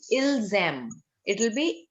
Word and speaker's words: ils aiment: The spelling is AIMENT. But beta, the pronunciation again is ilzam. It will be ilzam legato.